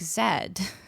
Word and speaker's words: Z: places in the world, this letter right here that I just typed in the chat, we pronounce it like Zed.